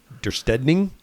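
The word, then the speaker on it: döstädning: The pronunciation is Dirsteding.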